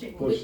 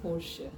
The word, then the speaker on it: Porsche: Porsche. The E is Okay. silent a little bit. Porsche. Porsche. Okay. The So- sh is there, the E sound is there, but it's very subtle.